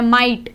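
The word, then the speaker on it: might: माइट, GH silent हो गया।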